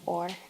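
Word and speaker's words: אור: collective so or a it's actually a Hebrew word or is how you pronounce it meaning light to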